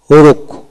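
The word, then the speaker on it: rogue: ওয়ার্ডের মধ্যে জি ইউ ই থাকলে এক্ষেত্রে ইউ ই উচ্চারণ হয় না। যেমন রোগ, রোগ আর ও জি, রোগ আর ও জি, রোগ ইউ ই উচ্চারিত হবে না।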